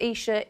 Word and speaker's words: Isha: Storm Isha, spelled Aisha, pronounced Isha, is on the way Sunday night, and we've got a lot of warnings to allow for that as well.